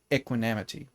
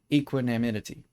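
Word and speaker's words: equanimity: that disturb its you equinamity. No, I I pronounced it in incorrectly. Equinimity. Equinimity. Yeah, equinimity. How embarrassing.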